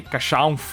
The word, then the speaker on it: Casshern: chamada Neo Human Cacherne, ou Cachan, porque aparentemente é assim que se pronuncia.